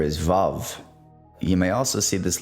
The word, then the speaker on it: Vav: Think of the U like a soft V.